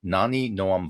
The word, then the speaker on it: Nani Noam: for us so that people will hear it pronounced more correctly than I You just did did? it perfectly, actually. Oh, Nani Noam excellent.